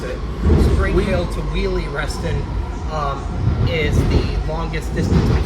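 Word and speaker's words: Wiehle: Now, Spring Hill to Wiley, I just mispronounced it. Spring Hill to Wheelie, Reston is the longest distance between stations in the entire WMATA system.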